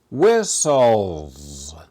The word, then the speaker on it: whistles: in your notebook Jennifer whistles every day Jennifer whistle every day whistles the H is silent we don't pronounce it she makes a noise